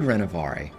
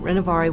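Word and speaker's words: Renovaré: Some people can't even pronounce the word Renovare.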